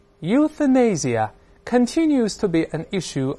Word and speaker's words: euthanasia: 比方说通过例句来看一下，这句话说 Euthanasia continues to be an issue of much controversy，